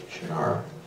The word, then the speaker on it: Shannara: movie when you're holding the book you say shanar when you're watching the movie you can see